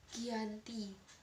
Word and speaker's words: Giyanti: pada 13 Februari 1755 nama kiyanti sendiri diambil dari lokasi penandatanganan perjanjian yakni di desa Janti dalam pelafalan Belanda ia tersebut sebagai Giyanti dan secara tertulis ia terbaca sebagai Giyanti tempat tersebut sekarang dikenal